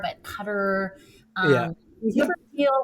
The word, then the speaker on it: Qatar: I want to say Qatar, but Cutter.